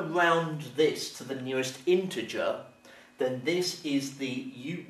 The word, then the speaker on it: integer: number to the nearest integer and the word is spelled i n t e g e r and some people pronounce it integer mistakenly okay so this is integer and an